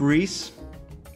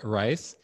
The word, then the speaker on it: Reisz: say your last name i grew up reese but it's a mispronunciate mispronunciation of rice okay so i'll say it again um so uh our special guest is todd rice he is an architect